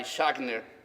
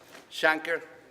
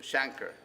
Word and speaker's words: Shanker: of the American Federation of Teachers led by schockner here in San Francisco Shanker thank you for the pronunciation Shanker all right a we can expect the idea